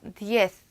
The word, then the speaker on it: diez: 자, 요 발음 뒤에 쌍시오 소리가 나죠? diez.